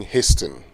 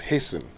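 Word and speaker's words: hasten: say it right it's hen okay not hting yes I know you see a t sound a t sound in there but that is actually silent okay let's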